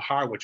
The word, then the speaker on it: Harwich: And during that time, there was a large Dutch diaspora in places such as Harwich in England, or Harwich as we pronounce it here.